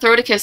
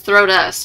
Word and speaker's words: Throtus: It's not Throticus, it's Throtus.